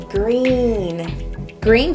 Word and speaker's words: Gruene: is one of the hardest Texas cities to pronounce groom grin growing granny really I always just think green green Texas is an enchanting and historic town located